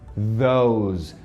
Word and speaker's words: those: Esses S's aqui, ó, do these e do those, tem som de Z. E a gente não fala essa letra E no final. Então, termina com Z. These, those.